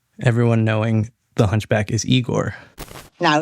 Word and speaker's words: Igor: I have a feeling that Young Frankenstein had a lot to do with everyone knowing the hunchback is Igor. No, it's pronounced Igor.